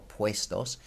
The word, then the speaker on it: puestos: ad het Evo's or puestos the ue combination in spanish as i've already mentioned is first always pronounced way as in waa y so this word is oppressed us or puestos and often if you